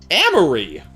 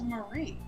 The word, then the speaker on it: Marie: Amory! What are you doing here? Amory. My name is Marie. Pronounced it wrong.